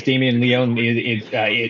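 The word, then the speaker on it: Damien Leone: that's a really graphic scene because of course Damen Leon I'm probably saying his name wrong is is No, you're doing it right, dude.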